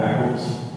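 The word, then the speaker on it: Echols: My name is Eccles. Last name is spelled E-C-H-O-L-S.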